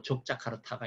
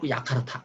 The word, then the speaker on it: 족자카르타: 또 족자카르타가 있는데 국가인권위원회는 이 족자카르타를 야카르타 그렇게 발음하더라고요.